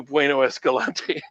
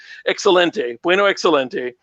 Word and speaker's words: Bueno Excelente: And so there was some hasty artwork rewritten, and all of a sudden Lobo is getting married to Bueno Escalante. I keep saying his name wrong. Bueno Excelente.